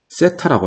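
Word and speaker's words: θ: 직각삼각형에서 요 각을 세타라고 했을 때, 이거 세타라고 읽어요.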